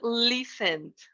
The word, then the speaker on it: listened: thing here is that we don't pronounce the T we say listen and we don't pronounce the second e so here is something